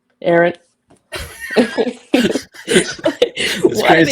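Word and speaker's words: Arryn: John Arin Aaron. Aaron. Why are they spelled like this, man?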